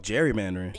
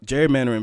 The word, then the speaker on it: gerrymandering: Oh, gerrymandering. Yes, that word. I want to pronounce the G like a G.